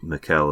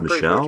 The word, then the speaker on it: Michel: heard i could have sworn they called them mikel and certain ones but i guess it's michelle oh maybe no no it's not michelle don't be stupid she was just like being